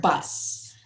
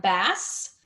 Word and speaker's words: bus: Can you say the word Bus? Bus. Okay. When it came out the first time, it sounded like bass. But just make sure you say the sound at the end, in the middle, bus.